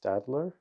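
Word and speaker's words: Staedtler: I've been using, I believe it's pronounced Stadler, using these types of pencils, great for drawing.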